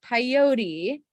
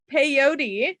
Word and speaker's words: peyote: said it really weird i've never heard that term rhyme with coyote that's what i say i said it like coyote um well that's embarrassing so they took peyote that's not the most